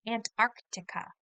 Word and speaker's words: Antarctica: down into some chunks listen carefully to the different parts that make up the word Antarctica ant AR ant ARA Antarctica Antarctica that's a hard word